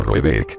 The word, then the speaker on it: Raback: Llamaremos a dicha mansión Raback, pronunciado algo así como Roebeck, aunque no es ese su nombre.